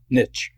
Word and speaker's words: niche: Yeah, and for my American friends, that niche in Canada is pronounced "nitch" in the United States.